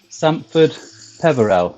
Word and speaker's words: Sampford Peverell: which kept me apart is it is it Sandford Peverell is that how you pronounce it yes yeah so a few pictures